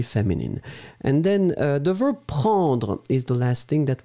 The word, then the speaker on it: prend: And then the verb prendre is the last thing that we were looking for. And it's conjugated, obviously, in the third person. So it's P-R-E-N-D. Hein? Remember, prend. You don't pronounce the final D.